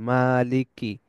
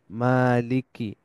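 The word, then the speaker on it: مَالِكِ: এরপরে খাড়া জবর আছে মানে মা এক আলিফ লম্বা হবে মা মালিক লামের নিচে জের আছে কাসরা আছে মালিকি আবার কাফের নিচেও কাসরা আছে মালিকি মালিকি মালিকি এরপরে এইটা হচ্ছে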